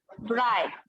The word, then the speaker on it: bright: फिर ब्राइट, Right. आ रहा है लेकिन ये दोनों साइलेंट है।